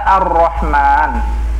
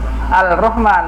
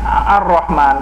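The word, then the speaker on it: الرحمن: Seperti kita membaca Ar-Rahman, tidak ada yang membacanya Al-Rahman, bacanya harus Ar-Rahman, kan gitu ya.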